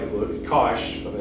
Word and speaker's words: cosh: of like a book kosh of x or kosh some some may pronounce it with a long o but the cosh of x hyperbolic cosine